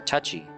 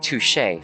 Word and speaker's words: touché: Touché. Or touchy. I don't know. No, there wasn't. No, that was touchy. I assumed he was going to say touché. I think it's pronounced touché.